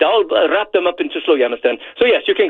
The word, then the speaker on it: Slowjamastan: Now, I know that there's someone who's listening right now who would like to drive down to you pronounce it Slowjamastan, is that correct?